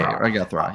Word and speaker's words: Raguthra: Ragathra. Yeah. Okay. Okay. I've heard I've heard many pronunciations, so everyone.